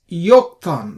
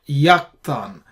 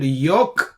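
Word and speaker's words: יָקְטָן: And we pronounce this as Yoktan, not Yaktan. You see this, we said Yoktan.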